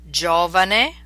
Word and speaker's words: Giovanni: jello spin G and here are the words pronounced a time with an English equivalent giallo yellow Giovanni young gusto just fair or correct jello frost